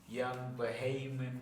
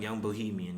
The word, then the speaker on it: Young Bohemian: You mentioned Young Bahamian. Yeah. My bad if I can't pronounce it properly. For sure. Is it Young Bahamian? Young Bohemian, yeah.